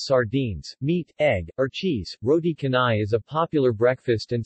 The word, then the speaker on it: roti canai: roti canai pronunciation tonigh also known as rody cane cane or